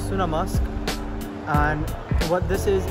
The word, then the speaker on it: Sunnamusk: video or ditch so I use Google transl Translate to get pronunciation of it might be wrong again so it's sunam musk and what this is